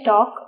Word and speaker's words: talk: listen মোর টক less টিএল কে টক এল তো silent থাকে টক মানে বলা টক